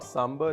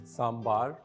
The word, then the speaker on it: sambar: A lot of Indians, we pronounce it as sambar. It is not sambar, it's sambar. Traditionally, down south, you always call it sambar.